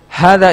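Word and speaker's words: هذا: you understand these points hada is pronounced as ha the but it's written without the first alif we do not write this alif in the like in hada but we do pronounce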